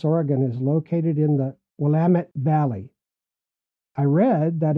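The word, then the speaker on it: Willamette: tell our tourists that to help remember them how to pronounce it we say wamit Dam it there are a lot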